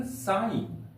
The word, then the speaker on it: sign: यहां पर जी के बाद एन आया है तो इसलिए जी का उच्चारण यहां पर नहीं किया गया है। इसका उच्चारण साइन।